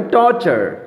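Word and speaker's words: torture: আচ্ছা, তারপর দেখো টর্চার, TURE, চা। টর্চার। টর্চার।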